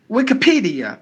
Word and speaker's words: Wikipedia: take the next word Wikipedia Wikipedia P should be given more volume look at the next